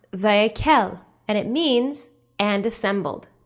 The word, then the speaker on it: Vayek'hel: the name of our torah portion is pronounced vaikel and it means and assembled it comes from exodus chapter 35 verse 1.